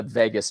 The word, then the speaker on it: vagus: And there's another part of our brain and our body that's called the vagus nerve. Okay, spelled V-A-G-U-S, but pronounced like Las Vegas.